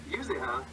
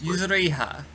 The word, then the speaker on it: Yuzuriha: And of course, that doesn't play out well, as Tsukasa speeds on them with a stone sword, captures Yuzuha. How do I say this? Yuzuriha. Yeah, that didn't help me at all, Tony.